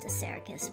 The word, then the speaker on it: Assaracus: Actually, his name's pronounced Assaracus, but...